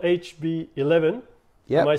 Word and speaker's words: HB11: absolutely okay so the The Venture is called hb11 yeah am I saying it correctly hb11 energy yeah uh and it's about Fusion nuclear